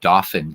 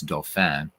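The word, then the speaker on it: Dauphin: I'm in Doan County as the pennsylvanians I'm incorrectly pronounce it dolin County when it's Doan um yeah so Lancaster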